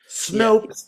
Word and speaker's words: Snopes: Snopes rhymes with nope.